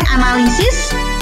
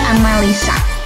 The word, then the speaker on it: analisis: Kemudian analisis, orang biasa mengucapkannya analisa.